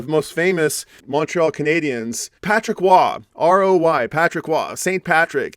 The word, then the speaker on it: Roy: You know, he even has that name Patrick Wah. and everybody pronounced it Patrick Roy down in the States and I had the